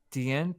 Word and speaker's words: tiens: Je ne tiens pas debout.